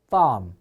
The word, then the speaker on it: farm: F 발음 어떻게 하라고요? 윗 이빨로 아랫입술 문 상태다. farm.